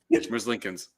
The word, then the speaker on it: Merzlikins: Merzlikins. No shit. Merzlikins. No N. Merzlikins, dude. It's not Lincolns.